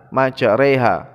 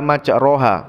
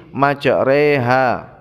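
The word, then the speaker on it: مَجْرٰىهَا: Jadi ro pada surat Al-Hud ayat ke-41 itu dibaca re, bukan ro. Walaupun lafadznya itu ada fathahnya, namun karena ini bacaan gharib maka cara membacanya majreha, bukan majroha, tapi majreha.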